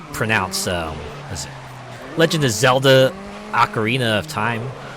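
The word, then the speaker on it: Ocarina: it Legend of Zelda acarina of time like I know now it's pronounced acarina but I think I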